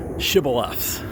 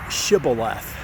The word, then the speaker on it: shibboleth: a soft s sound but the other group would say shibboleth with an sh sound and simply by the